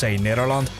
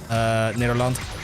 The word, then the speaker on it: Nederland: a little mustard on the G in the Netherlands, Nederland, and I can't do it. I can't seem to get the mustard on it as much as I would like to. It's like a hard G and a soft G, depending on like the province you're in and stuff, but I